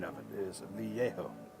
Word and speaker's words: Vallejo: I do like the glazing medium from Vallejo.